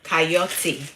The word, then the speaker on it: chayote: They call it coyote. It's spelled Chayote. That's how they spell it.